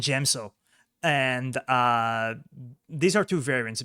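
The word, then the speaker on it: Djem So: Form 5, Cheyenne and DM So. Oh god, the pronunciation is so horrible. It's Shien and Gemso.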